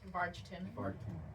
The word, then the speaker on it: Vargtimmen: How do you pronounce this again? Vargtimmen.